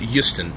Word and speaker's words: Houston: It's pronounced Houston. It's a very soft H-O.